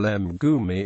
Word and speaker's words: mgumi: For instance, gtan is pronounced ek, ta, n, while mgumi is pronounced m, ku, mi.